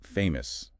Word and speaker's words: famous: How about famous? Famous. Two parts. F a Y must stress on the first part.